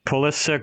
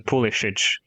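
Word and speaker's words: Pulišić: I always say pulik. Yeah, I think the English pronunciation is pulk, but it's Christian pulish.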